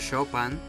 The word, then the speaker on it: Chopin: like Beethoven, Saint-Saens and "Chopa"n I know is Chopin, but if the series can pronounce it like that, why i can't I?